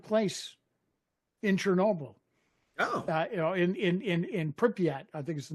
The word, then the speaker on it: Pripyat: In Pripyat, I think is the name, how you pronounce the city.